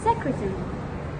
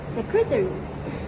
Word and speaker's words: secretary: So for example in British this word is pronounced as secretary. Secretary where you swallow the lasso. And in American this word is pronounced secretary. Secretary where you put clearer emphasis on the area ending.